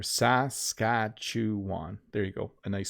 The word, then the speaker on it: Saskatchewan: you think about it it's sas cat shoe on if you say it slowly so individually it's a little easier saskatchewan there you go a